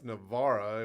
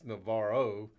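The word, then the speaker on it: Navarra: to say that right because it's a Italian it's Navara and we made a little joke about it on the live that in Spanish it's Navaro usually.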